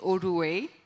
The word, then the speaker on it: Odu: hello everyone okay so for the right pronunciation of my name my name is ODU and I am the